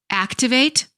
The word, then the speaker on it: activate: Verbs ending with ate stress the first syllable. Nouns ending with tion stress the second syllable before the suffix. Activate, activation.